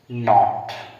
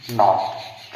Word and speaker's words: knot: KNOT, इसको हम क्या पढ़ेंगे, नॉट। क्या पढ़ेंगे, नॉट। क्यों हमने के को नहीं पढ़ा, यहाँ पर के साइलेंट है, क्योंकि के साइलेंट है, के साइलेंट है।